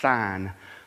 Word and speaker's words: Sin: in the wilderness of sin um some people would pronounce that as sign but isn't it something